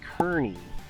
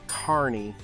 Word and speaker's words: Kearney: Old Kearney in fact a lot of people that from out of town call it Kearney so don't make that mistake it's Carney even though it's spelled how it sounds but it is the